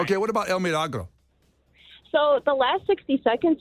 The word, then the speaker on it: El Milagro: of people miss that the I is pronounced like a double E. So it's not El Milagro, it's El Milagro. El Milagro.